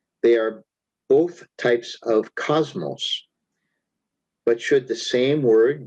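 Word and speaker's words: κόσμος: It is Strong's G2889, pronounced cosmos.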